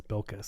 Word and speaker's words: Bilquis: I thought I pronounced Billy but I guess it is Bilquis.